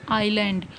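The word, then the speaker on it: island: देखो आई एस लिखा है लेकिन हम इसको क्या प्रोनाउंस करते हैं, आइलैंड।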